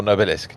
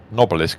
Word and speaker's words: Nobelisk: by taking out the Nobelisk. Or Nobilisk, depending on who you are and how you're pronouncing things. Nobilisk sounds a bit posh. Nobelisk sounds right.